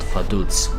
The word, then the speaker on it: Vaduz: The capital of Liechtenstein is called Vaduz. It's spelled like this. But in German, V, simple V, is pronounced as a form of F, and Z is pronounced as Z, as in pizza.